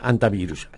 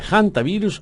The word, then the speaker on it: hantavirus: ¿Cómo se dice? ¿Hantavirus o hantavirus? Cualquiera de las dos maneras está bien dicho. Sí, estamos acostumbrados a decir los hantavirus. Sí, hantavirus, ¿no? Pronunciar la H como una J. Exactamente. Pero se puede decir hantavirus también.